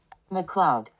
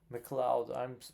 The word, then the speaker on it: MacLeod: How do you say this? McLeod. McLeod. I'm so sorry. I don't know why I was pronouncing this differently.